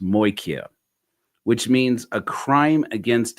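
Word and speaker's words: μοιχεία: Anyways, by believe the word is pronounced moikia, which means a crime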